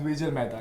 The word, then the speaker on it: Dwijal Mehta: Today I have Queens of Comedy, Urooj Ashfaq and Dwijal Mehta. Did I pronounce it right?